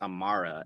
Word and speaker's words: Amara: It's pronounced Amara and it and Amara is a name that means eternal or everlasting.